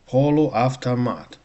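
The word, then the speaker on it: полуавтомат: Poluavtamat. Poluavtamat. The two stresses actually.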